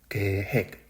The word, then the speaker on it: 계획: Y la última, número 4, es 계획. La pronunciación es un poco difícil. Repetid, 계획.